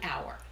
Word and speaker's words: hour: Consider the word hour. What sound do you hear? Since the H is silent, we hear a vowel sound, an hour.